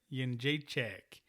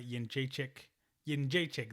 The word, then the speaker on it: Jędrzejczyk: Jędrzejczyk.